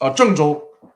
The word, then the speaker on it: Zhengzhou: The English way to spell it would be Zhengzhou. Zhengzhou.